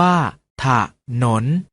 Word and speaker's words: ถนน: เสียง ว่า ทหาร อยู่ ถนน ออก เสียง ว่า ถ้า ถนน ฉลาม ออก เสียง ว่า